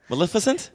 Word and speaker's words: Maleficent: oh me too Maleficent you said it right Maleficent good job first you were trying to mess